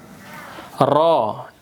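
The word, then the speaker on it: راء: Ro r a. A a tulisannya. Cuman bacanya ro o. R o ro tebal. Iya.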